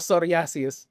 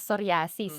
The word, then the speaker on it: psoriasis: Ano ba ang tamang bigkas? Psoriasis o psoriasis? Well, sa Tagalog, commonly known siya as psoriasis, no? In English, psoriasis. Psoriasis, yun tayo.